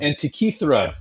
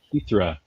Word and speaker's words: Antikythera: like this because it's a Greek mechanism, the Antikythera mechanism. Am I saying that right? Antikythera mechanism. Antikythera, thank you.